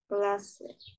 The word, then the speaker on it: classe: Tu es dans une classe. What? Tu es dans quelle classe? ক্লাসে না, ক্লাস, লাস্ট এটা silent.